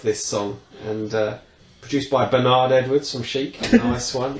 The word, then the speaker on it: Bernard: That's the singer of this song, and produced by Bernard Edwards from Chic. Nice one. His name is pronounced Bernard, by the way, not Bern.